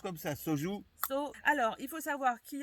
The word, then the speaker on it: soju: Et ça se prononce comme ça, soju.